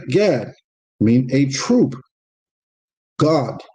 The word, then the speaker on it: Gad: God in the Hebrew. Not G-O-D, but God. That's how you say it, God, but G-A-D.